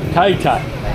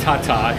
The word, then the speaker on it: Taytay: please so this uh how do you say your town Tay or you're Tay or Tata you're in the roundabout is the name TI Tai all right so I'm not it's not Tata it's TI Tai I learned